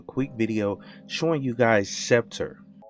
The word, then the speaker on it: Septor: watch and this is scepter and i hope i'm pronouncing it right i'm i'm pretty sure that's the way you say it accept and then tour at the end of it which i thought was